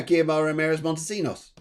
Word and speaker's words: Guiomar Ramirez-Montesinos: Yeah, Guiomar Ramirez-Montesinos. Okay. Go on then, you say it. Guiomar Ramirez-Montesinos.